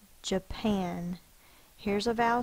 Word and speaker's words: Japan: syllable break right here there's only going to be one syllable that's stressed or accented here's a good way of remembering that if your dog was named Japan and you're fussing at your dog how would you say it would you